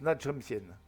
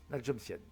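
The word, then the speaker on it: Na Jomtien: Et donc cette plage de Nha Jom Sien, ça s'écrit Nha Jom Sien, mais ça se prononce Nha Jom Sien. Nha Jom Sien.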